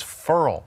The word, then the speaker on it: Ferrell: account and pronounciation is interesting with him Cleveland Ferrell most people say thank you help me I call yeah although and the the tiger si D came in and said it's fer all right I said everybody in the world was